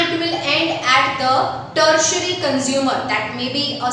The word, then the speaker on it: tertiary: Now, carnivores as a secondary consumer and is followed by tertiary consumer. Underline that. T-E-R-T-I-A-R-Y. Tertiary. Right? उसको आप pronounce कैसे करोगे?